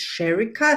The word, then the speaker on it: Sherrika: name is Caroline and my today's guest is sherica Sanders I hope I pronounced your name right welcome to the show